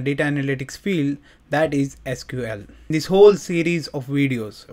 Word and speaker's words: SQL: start what is SQL there is also alternate pronunciation for SQL that is SQL SQL stands for structure